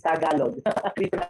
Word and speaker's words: Tagalog: Yes, it's Tagalog.